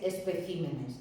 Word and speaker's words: especímenes: Sigue siendo esdrújula, pero he movido la sílaba tónica. Y también espécimen, que es especímenes.